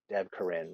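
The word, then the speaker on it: Devkarin: The Golgario is great because I had to remember how to spell Dev Karin right every time. That's how you pronounce it.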